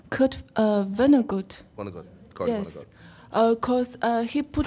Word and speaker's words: Vonnegut: Kurt Vonnegut.